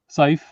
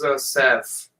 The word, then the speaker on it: Saif: Saif. It's pronounced as Saf.